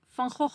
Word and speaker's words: Van Gogh: known for modern art and design, and the Van Gogh Museum. Note the correct pronunciation of this name.